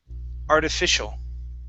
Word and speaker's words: artificial: the word artificial okay the ci here at the very end makes an sh sound artificial active artificial okay very